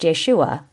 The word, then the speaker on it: Yeshua: The same critical analysis applies to the myth of Jesus, the assertion that there existed a religious teacher named Jesus, more correctly pronounced Yeshua, has historical merit, since